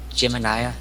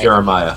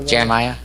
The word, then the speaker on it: Jeremiah: Child, is your name Gemini? Or did I say it right? Jeremiah. Yeah, Jeremiah.